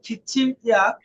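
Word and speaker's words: 기침약: জি বলেন ইগন, ইগন এইটা এইটা খিচিম ইয়াক, খিচিম ইয়াক উচ্চারণটা খিচ্ছিম হয়ে যায়, বলেন খিচ্ছিম ইয়াক খিচিম ইয়াক কাশির ঔষধ,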